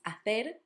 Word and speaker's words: hacer: The second word is hacer, not hacer, hacer.